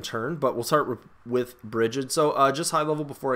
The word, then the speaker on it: Brighid: I've heard her name pronounced many different ways, but I've met a Brighid, and she pronounced it Brighid, so I'm pronouncing it Brighid.